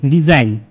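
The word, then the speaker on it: resign: তারপরে দেখো next, রিজাইন, আর ই এস আই জি এন, রিজাইন। ডিজাইনও ঠিক জিটা উঠে গেল এবং উচ্চারণটা ডিজাইন হলো।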